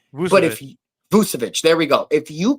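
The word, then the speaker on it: Vučević: So if you're able to get Nikola Vucevic, I can never pronounce his name right. I'll call him Vucevic. But Vucevic, there we go.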